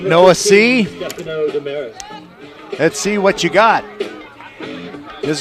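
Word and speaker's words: Seay: it is pronounced say it's spelled s-e-a-y it's a right-hander and a sophomore number five it is noah c s-e-a-y pronounced c i guess he's making his varsity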